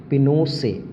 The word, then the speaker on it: Pinochet: This is called Pinochet, but the pronunciation, this is written as Pinochet, but the pronunciation is Pinochet, are not elected by the people.